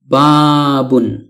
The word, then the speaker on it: بَابٌ: অর্থ দাঁড়ায় একটি দরজা অনেক সময় আমরা বাব বলে থেমে যাই শুধু বাব উচ্চারণ করে মুখস্ত করে থাকি অর্থাৎ ওয়াকফ করে ফেলি মানে শেষের তানভীনুনটি উচ্চারণ করি না কিন্তু তো আশা করি এখন থেকে আমরা এর পরিপূর্ণ উচ্চারণ করার প্রয়োজনীয়তা খুব ভালোভাবে অনুভব